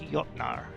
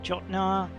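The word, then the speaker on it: Jötnar: type of pathology and the Scandinavians are definitely amongst the Europeans who pronounced a J we is a year sound so it's yacht Nara warm shield a lot of people will say jotnar or which sounds ridiculous or shock now in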